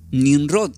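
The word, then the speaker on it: Nimrod: Se pronuncia como nin rrot, igual, o sea, se escribe igual.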